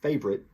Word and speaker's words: favorite: My favorite, and by the way, this favorite, as we'll see, is often reduced to two syllables, favorite.